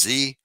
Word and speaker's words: Xi: World War II uh X is Xi which is pronounced Z the leader of China